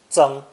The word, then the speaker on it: 憎: And is also pronounced first tone, 增, 增.